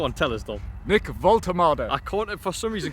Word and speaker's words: Woltemade: Nick WOLTEMADE. I can't, for some reason, because his name's spelt so differently how it's pronounced, my brain cannot compute this.